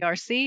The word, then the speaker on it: Clerc: And I always say his name wrong because I studied French in high school, but I still do it Clerc, and I say clerk, but that's not that right.